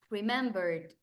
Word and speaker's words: remembered: Or maybe remembered, remembered, remembered, bird. No remembered, remembered. It's like es como si esta E la elimino, no suena.